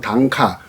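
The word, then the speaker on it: 短歌: 80평생을 사러 왔다 단가 우리 한자식 표현은 단가 짧은 노래 일본식 발음은 단카 당카 가인으로 살아왔는데요 봉순아 노래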